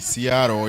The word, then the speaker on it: Seattle: I'm told the pronunciation is supposed to be with an R, not a T. Seattle, yeah.